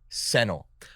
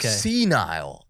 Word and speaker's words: senile: forgot gryffindor or something went senile or like sennel and i was like senile okay just saying it wrong yeah you're just saying